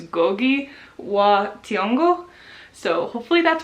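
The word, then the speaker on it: Ngũgĩ wa Thiong'o: his own name, it's Ngugi wa Thiong'o. So hopefully that's right. I'm not entirely sure if you're supposed to say the N or not, but I'm gonna go with how he said it.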